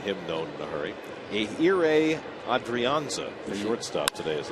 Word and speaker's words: Ehire: It's Ehire. I know. H is silent. It's like 3 vowels in a row.